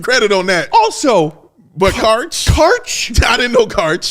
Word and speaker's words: Karch: Karch. That's how it's pronounced.